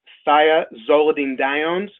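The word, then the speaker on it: thiazolidinediones: risk big word there at the top it's pronounced saya Zola Dean downs and just call them TZ DS for short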